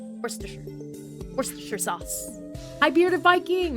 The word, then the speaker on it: Worcestershire: It's Worcestershire. Worcestershire sauce.